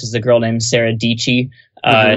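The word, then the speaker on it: Dietschy: a girl named Sarah dii uh she rhymes with peachy rhymes with yeah you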